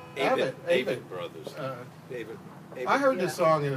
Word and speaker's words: Avett Brothers: This is a song, I don't know if you pronounce it, is it Abbott Brothers or Avett Brothers? Avett Brothers.